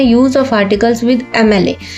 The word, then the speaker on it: MLA: तो MLA का pronunciation क्या होता है, देखिए MLA। MLA मीन्स इसमें जो साउंड आ रही है वो आ रही है एम, L A, क्योंकि फर्स्ट प्रोनाउंसिएशन जो है ई है, ई से स्टार्ट हो रही है, एम मतलब ए, एम